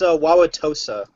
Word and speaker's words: Wauwatosa: Yeah, it's Wauwatosa. Okay. People call it Tosa for short.